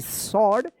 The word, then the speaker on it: sword: A small सॉर्ड, SWORD सॉर्ड, यहाँ पे W silent है, इनसाइड।